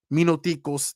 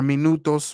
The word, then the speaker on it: minutos: in a couple minutes minoos that's what they say Oho Tios Mino was like minutes a couple minutes Minos or minutos right MOS is the proper way to say but they'll say minoos